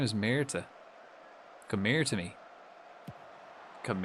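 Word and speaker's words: Myrtaj: So his name is Mera.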